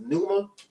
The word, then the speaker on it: pneuma: I think it's pneuma. That's how you say it.